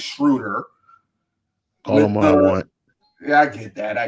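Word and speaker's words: Schröder: the dennis schruter because i've been saying his name wrong this whole this whole podcast it's schroeder yeah i get that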